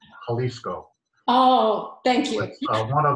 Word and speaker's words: Jalisco: slight correction the uh the spanish j is an h so it's jalisco oh thank you one